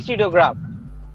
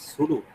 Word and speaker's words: pseudograph: say it is a pseudo graph. okay, sir. Is it clear, Lubna? Yes, sir. Clear, sir. Sir, Yes, telling. maybe its pronunciation is sudo.